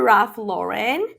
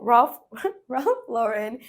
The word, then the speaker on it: Ralph Lauren: Let's go for Ralph Lauren. I'm saying it wrong. Ralph Lauren.